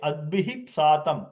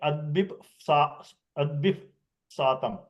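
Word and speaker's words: अद्भिः सातम्: Same way, adbihip satam. You can't make adbip satam.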